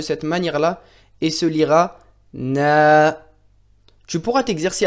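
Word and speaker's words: نَ: Le noun avec la fatha s'écrira de cette manière-ci et se prononcera na.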